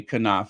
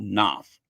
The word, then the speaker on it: Knopf: that includes Jason Knopf, or as some people say Knauf. I just say Jason Knopf. I don't want to waste a syllable mentioning him. I do not want to waste a syllable. I'll just keep it one syllable, Knopf.